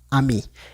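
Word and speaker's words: amis: Entonces, la t, la s que tenemos en ami, no se pronuncia tampoco, entonces su pronunciación sería amí.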